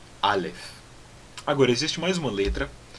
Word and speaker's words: Aleph: E o Ayin, antigamente tinha um som diferente do som do Aleph, mas hoje em dia é pronunciado da mesma forma que nem o Aleph, e os dois são pronunciados com aquela parada glotal, então A, tá bom?